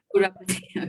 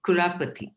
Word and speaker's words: Kurapati: here in US, they pronounce it like how we pronounce at home, but in India, I have to correct them. Kurapati. Okay. Kurapati. Okay. Kurapati. Kurapati. All right. Party. Yeah, like party. Okay.